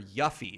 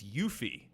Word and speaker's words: Yuffie: I remember when we originally did the Final Fantasy retrospective, I called her Yuffie, and it's Yuffie.